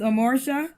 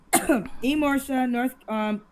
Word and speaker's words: Emorsha: This is Amorsha. Am I saying it right? Emorsha? Emorsha.